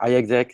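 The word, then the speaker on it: iExec: pronounce it so so you can pronounce it I EXA I exac it stands for I execute in short I like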